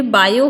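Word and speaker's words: Biot: ये बायो है, टी को आप प्रोनाउंसिएट नहीं करेंगे क्योंकि टी क्या होता है, फ्रेंच नेम होता है और फ्रेंच नेम में टी साइलेंट होगा। ठीक है, मतलब ये बायो जो वर्ड है वो फ्रेंच नेम है जहाँ पर टी साइलेंट होता है, और ये सावर्ट आपको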